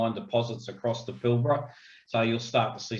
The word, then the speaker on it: Pilbara: come here, they say Pilbara. And of course, that first A is silent, everybody. It's Pilbara.